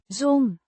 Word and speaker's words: zo'n: Zo'n, Means such a or this kind of, pronounced zon. with a drawn out O, sound. The z. sounds like a soft s, and the n is nasal.